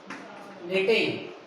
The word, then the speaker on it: knitting: C is knitting. Here is K is silent. Knitting. K is silent here.